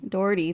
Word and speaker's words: Dougherty: Dougherty, thank you.